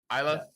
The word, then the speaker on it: Isla: Yeah, Isla. Isla.